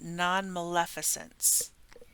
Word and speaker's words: non-maleficence: So A is, and I had to look up how to say this, pronunciation guide, is officially beneficence and non-maleficence.